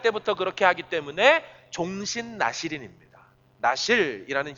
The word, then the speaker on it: 나실: 나실이라는 히브리 단어 말이거든요. 발음이 그래요. 나실이에요.